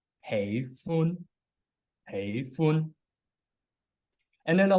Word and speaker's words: 喜歡: Like in Cantonese is a two-syllabic word, including the first syllable as hey, and the second as fun. Hey is a mid to high tone, and fun is a high tone. Hey fun, hey fun.